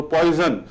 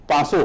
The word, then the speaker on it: Poisson: जैसे कि ये एक वैज्ञानिक है पासो, उसका स्पेलिंग है POISSON, तो पॉइजन, ये इसका उच्चारण लेकिन पासो होता है, लिखा ये जाता है पॉइजन।